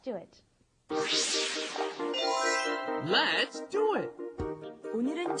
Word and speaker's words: 오늘은: It's not 오늘은. You cannot do all. It has to be 오. 오늘은, and then 늘 is a little difficult to pronounce too because there's no in English.